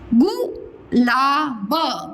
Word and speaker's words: गुलाब: गु ला ब गुलाब, छोटा की मात्रा है बेटा, गु ला ब गुलाब।